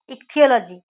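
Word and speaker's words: ichthyo: इक्थियोलॉजी study of fish, इक्थियोलॉजी ऐसे याद करिए, एक थी क्या? फिश, एक फिश थी, तो इक्थियो, इसका प्रोनाउंसिएशन इक्थियो होता है, इक्थियोलॉजी, इक्थी फिश, ऐसे याद कर लीजिए।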